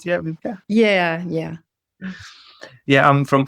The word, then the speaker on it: Wiebke: Yeah, Wiebke.